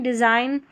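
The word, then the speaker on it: design: GU साथ में रहेगा और इसको ग करके प्रोनाउंस कर देंगे। नंबर 49 पर है GN, इसको न पढ़ेंगे। साइन, डिज़ाइन, यहाँ पर है फॉरेन, कैंपेन, तो लास्ट में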